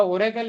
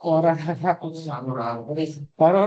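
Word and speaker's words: Aurora: का proprietary database है ओरा ओरा है ना ओरा औररा नहीं ओरा ए यू आर ए आर ओ आर ए ऐसा कुछ स्पेलिंग है क्लियर है?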